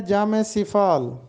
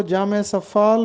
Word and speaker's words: جامِ سفال: ایک اور ترکیب ہے جامع صفال۔ بہت سے لوگ اس کو جامع صفال بولتے ہیں، جبکہ درست تلفظ ہے جامع صفال۔ جامع صفال کہتے ہیں